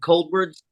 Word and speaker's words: Coldwards: My new band is called Cold Words, ColdWards, pronounced like cold words.